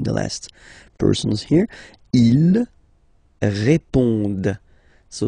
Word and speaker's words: répondent: And then the last persons here, ils répondent. So same thing here, classic ending, ENT, but then you don't pronounce it. Okay? Répondent.